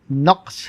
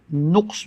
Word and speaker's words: نقص: میں حاضر ہے، اور آج کا لفظ نقص ہے جو درست ہے۔ عام طور سے نقص بولا جاتا ہے جو غلط ہے۔ اس کے معنی ہیں